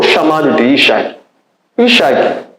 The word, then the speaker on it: Isaac: pergunta foi feita agora Isaac é um nome que em hebraico eh pronuncia-se isak que significa eh aquele